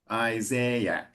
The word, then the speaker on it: Isaiah: So in the English pronunciation we pronounce both A's. Isaiah and then C.